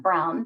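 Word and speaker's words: Braun: lucy braum and actually i think you pronounce that brown despite the spelling and she passed away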